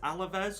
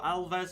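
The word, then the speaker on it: Alavés: we're playing the game against alavez or alves i'm pretty sure it's alavez and that's how it looks like it's pronounced anyway away from home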